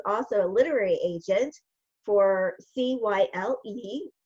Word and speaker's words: Cyle: So yes, because his name is spelled C-Y-L-E, Cyle.